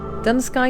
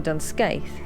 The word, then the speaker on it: Dunscaith: waiting game dun sky castle or dunscaith as we so eloquently mispronounce throughout our many trips here was the original